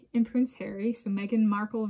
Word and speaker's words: Markle: So Meghan Markle rhymes with sparkle.